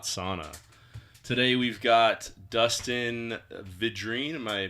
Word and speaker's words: Vidrine: Today we've got Dustin Vidrine. Am I pronouncing that correct? Perfect. All right, Vidrine.